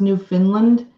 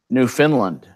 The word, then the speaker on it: Newfoundland: Why is Newfoundland pronounced Newfoundland? It's pronounced like that by idiots. Newfoundland.